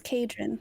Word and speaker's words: Cadron: Quick note, I didn't put pronunciation, but I always thought of it as Cadron. Cadron, my bad. Yeah, with a hard C.